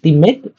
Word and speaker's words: teammate: Teammate nó bị cái phát âm nó hơi bị Việt hóa, hiểu không? Nó cứ bị teammate đấy, là teammate. Đấy, nó phải làm A, nó không phải E nữa ha.